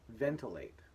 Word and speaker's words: ventilate: And the final example is ventilate. Notice still making that sound still, but in this case, we're popping it in with an I.